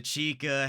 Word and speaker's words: chica: The chica having the more harder C pronunciation, the way you really would imagine a CH should sound.